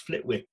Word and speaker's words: Flitwick: people years later from i think they call it flittic it's pronounced flitwick it's pronounced flitting it's it's it spells flitwick down in hartford and